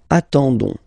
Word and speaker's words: attendons: classic ending for nous, so O-N-S, okay, you don't pronounce the S, so you get only this on sound, okay. Attendons, nous attendons, so we'll make the link between the two, la liaison.